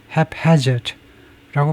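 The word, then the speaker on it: haphazard: hazard 아 그래서 제가들은 기억에 가면 두 번째 음절에 have hazard라고 발음하는 거 같네요.에 에 발음은 have hazard have hazard have hazard이 두 번째 음절 이쪽에다 선주고 have hazard 이렇게 해야 되고요 lacking any obvious principle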